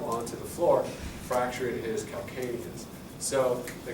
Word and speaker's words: calcaneus: Again, heel is 1 syllable. Calcaneus is 3 syllables. So it's called calcaneus. Or calcaneal, that sounds even better.